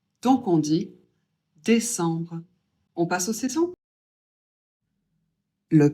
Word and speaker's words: décembre: Faut commencez à avoir l'habitude, ça fait en et on prononce le B. Donc on dit décembre.